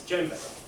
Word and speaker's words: djembe: Spelled slightly strangely, isn't it? There's a J just after the D. So the djembe looks like how it's spelled, but you always say it's djembe.